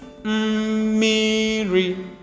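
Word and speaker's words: mmiri: Okay, notice also that we have double M. The first M having the tone mark. That one is a semi-vowel. Alright, because it has the humming sound.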